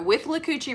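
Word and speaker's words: Withlacoochee: between marion county and citrus county basically so with lucocci river i actually said it right that time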